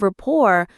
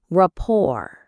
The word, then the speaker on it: rapport: The T at the end is silent. Say it with me. Rapport. The stress is on the second syllable. Rapport.